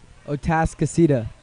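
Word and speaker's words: Atascocita: a s c o c i t a o task aceta that's it a task is seeded was there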